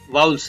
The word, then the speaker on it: vowel: वैसे इनका वोवेल उच्चारण भी करते हैं। अब हमारी जो मातृभाषा है वो हिंदी है, इसलिए कुछ भी हो सकता है, लेकिन डिक्शनरी के अनुसार, ऑक्सफोर्ड डिक्शनरी के अनुसार वाउल इसका उच्चारण है।